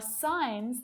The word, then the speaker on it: sign: It's that G. Sign, might, design, foreign, and daughter. So what patterns can we see here? We can see that the G is often silent when it's before an N.